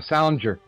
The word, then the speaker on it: Salinger: Yeah, Salinger.